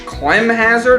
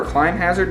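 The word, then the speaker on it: Climhazzard: blade beam cross slash Clem hazard or client hazard depending on how you pronounce it those were Zacks he's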